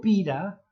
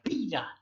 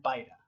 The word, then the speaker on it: Pyra: Yo le digo Pira porque es el nombre, así se pronuncia, Pira. Pero creo que los ingleses le pronunciarían Pyra.